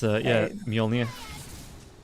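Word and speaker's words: Mjölnir: I should be saying Mjolnir. It's Mjolnir. I don't say it right either. It just feels hard to switch out of my put-on English accent into a put-on Swedish accent.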